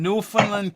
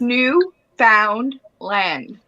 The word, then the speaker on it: Newfoundland: what's up Jamie Eddie let's pronounce this new found land no fun no no Josie's correct Newfoundland is how it's rolling believe it or not